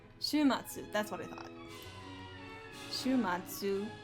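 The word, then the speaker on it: 週末: Just gotta make sure I know how to pronounce this correctly. Shumatsu, that's what I thought.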